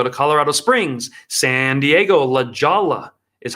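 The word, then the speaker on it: La Jolla: Provo I go to Colorado Springs San Diego La Jala is how it's pronounced very rich area then I'm in Des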